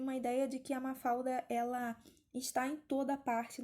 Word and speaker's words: Mafalda: atenção na pronúncia porque não é mafalda como a gente fala em português tá a gente tem 1l no final de uma sílaba em português a gente acaba transformando esse l em um na oralidade a